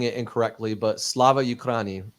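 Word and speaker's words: Слава Україні: Now, I haven't said this publicly for fear of pronouncing it incorrectly, but Slava Ukraini, correct?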